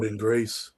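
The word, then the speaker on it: Jordynne Grace: Um, you know, uh, Jaden, Jaden, uh, Jaden, I'm saying her name wrong. Jordan Grace, Jordan Grace, Jordan Grace.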